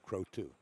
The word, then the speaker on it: Croteau: I had a candidate, I asked how to pronounce his last name, and he said Croteau.